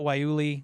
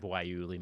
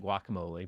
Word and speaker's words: guayule: Erik: There was one customer who kept calling it guacamole.